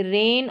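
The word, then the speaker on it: rain: ए आई इसको ए करके पढ़ते हैं। इसका लंबा उच्चारण रहता है। और ये दो कंसोनेंट के बीच में आता है। मैक्सिमम दो कंसोनेंट रहते हैं इसके। दोनों तरफ। तो यहां पर देखिए रेन और पेन बीच में ए आई है। इसको ए करके पढ़ा है।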